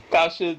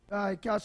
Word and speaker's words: cache: Yeah, and it is pronounced cash. The caller is saying that it's pronounced cache. I suppose if you're using French, you'd use an accent over the final E to change the sound of that.